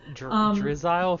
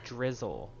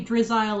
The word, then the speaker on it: Drizzile: Oh, or is There's it meant to nothing be wrong with pronounced drizzle, like the word? No, I think it's supposed to be Drizzile like reptile. I thought it was maybe drizzle like missile.